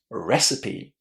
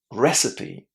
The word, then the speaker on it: recipe: Number one, that e at the end is actually pronounced. This is a big surprise because normally in English, of course, we don't pronounce the final e. It's silent. But not in this word, recipe.